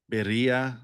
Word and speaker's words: birria: And I was like, "Okay, I can do I that, heard birria, people say it two different ways, like birria birria." or birria. Yeah. I hear birria a lot more.